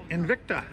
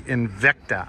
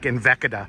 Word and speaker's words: Invicta: He has a Invicta. A 1960 Invicta. I always like to add syllables to it, like Invicta. No, but don't do that.